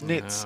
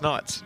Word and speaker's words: Knights: Yesterday I was saying Knights, and someone in the comments go, "Oh, you're pronouncing it wrong. It's Nits." Oh, for God's sake. So I'm like, hang on. Anyway. You asked him. Yeah, we did. He goes, "It's Knights."